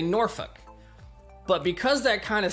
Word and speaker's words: Norfolk: A lot of people that are moving to the area like to say Norfolk. That's kind of how it spells, but that's incorrect.